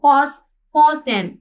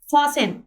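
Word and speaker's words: fasten: एफ ए एस टी ई एन फ़स्टन। First अब फ़स्टन नहीं पढ़ना इसको। फस्टन फसन। ठीक है?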